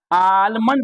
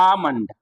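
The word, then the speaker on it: almond: L silent हो जाएगा यहां आलमंड नहीं बोलना है आमंड आमंड बादाम होता है है ना इस तरह से आमंड L silent L silent सामन आमंड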